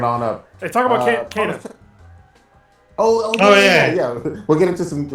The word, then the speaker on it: Kena: I still want to pronounce it Kina because of my black ass lisp and the fact that it was spelled that way.